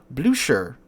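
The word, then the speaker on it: Blücher: German Heavy Cruiser the blue Sher I think that's how you say it according to the comments in uh my video talking about it I was saying Bluer apparently it's blue sh so there you go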